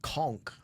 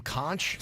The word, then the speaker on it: conch: Somebody said a true Fidian also knows how to pronounce conchk conchk. Do uh people who are not fidians go, can I have some kunchch? Is that what that is? I would like a kunch fritter.